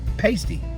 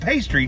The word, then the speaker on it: pasty: It's spelled P-A-S-T-Y. It looks like pasty, like a pastry, but not pastry, pasty.